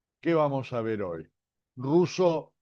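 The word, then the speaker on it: Rousseau: ruso que se escribe r o u s otra vez s e a u no me convienen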